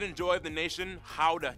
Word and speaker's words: Gouda: And the pride and joy of the nation, Gouda cheese. Yep, that's how you pronounce it, guys.